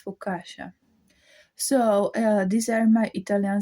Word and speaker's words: focaccia: How pronounce this food? It's focaccia.